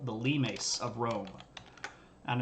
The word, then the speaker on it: limes: the Romans call the lemas of Rome and I know it's spelled limes but it's not pronounced limes it's Latin you say lemas and these are the